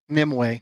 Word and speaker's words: Nimue: How do you pronounce it? Nimue.